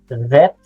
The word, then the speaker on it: Vet: And Aleph, then Aleph, Aleph, Aleph, Vet, Vet. So, Vet ito. Letter V ang pronunciation. Magiging Bet lang yan kapag may tuldok or dagesh. Bet kapag may tuldok.